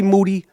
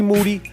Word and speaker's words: Moody: First, me and Moody, last name rhymes with duty, are going to set the table with a sick, fuck-infested I Am Rapaport Stereo Podcast.